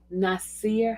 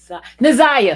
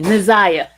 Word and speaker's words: Naziah: Tonight, we're going to cover the Jarvis Butts, and the Nasir Harris. Nasir, how to say her name? Nasir? Naziah, excuse me, Naziah. I said Nasir.